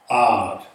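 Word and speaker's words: עד: So that's pronounced odd. Ayin, quamats, dalit. Odd. The ayin is kind of silent or guttural.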